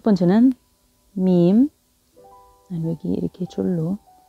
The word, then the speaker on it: م: 이제 시기 그리고 부호랑 어떻게 발음을 하는지 연습해봐요. 첫 번째는 밈, 여기 이렇게 줄로 밈, 밈, 밈.